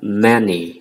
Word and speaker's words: many: là bạc nan vụ Nani không phải thế đọc là many mình nhấn mạnh là một tí nhất từng